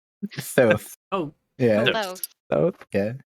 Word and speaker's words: Thoth: How do you pronounce that right? Thoth.